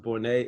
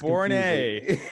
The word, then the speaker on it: Bournes: I'm sorry I did not correct you before we started recording, but my last name is actually pronounced Bournes. It's all good. The S is silent. It's Bournes.